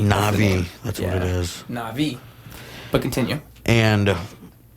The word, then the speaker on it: Na'vi: It's Na'vi. Na'vi. That's what it is. Na'vi.